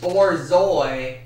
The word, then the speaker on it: borzoi: the Bolshoi oh no dang it it's the borzoi not more syllable swiss-born Zoe or Zoi dock the teacher